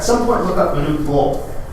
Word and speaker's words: Bol: At some point, look up Manute Bol. It's spelled just like it sounds. B-O-L is how he spells last name.